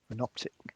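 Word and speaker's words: Pnakotic: the the narcotic manuscripts you spell that p-n-a-k-o-t-i-c I believe it's a silent P it is an optic manuscripts in Greek and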